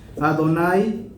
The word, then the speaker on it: Adonai: los sidurim ese nombre ¿alguien sabe cómo se pronuncia? Adonai y Adonai se escribe